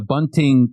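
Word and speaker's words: Bünting: theologian, so Heinrich Bunting, maybe we would use the more German pronunciation.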